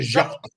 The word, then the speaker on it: Jacques: No, that's how you say his name. So Mr. Jacques.